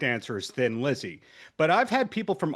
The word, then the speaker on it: Thin Lizzy: it Thin Lizzy because they knew the Irish were going to pronounce it Thin Lizzy, right? So, it was kind of a little inside joke for the for the Irish and all that, but it is thin Lizzy.